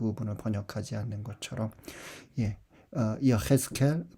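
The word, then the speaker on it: יחזקאל: 에제키엘이라고 이제 우리말로는 씁니다만 이제 히브리말 발음으로는 여헤스켈.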